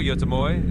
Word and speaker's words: Göteborg: It's basically Gothenburg in English, or Göteborg in Swedish if you want to be fancy.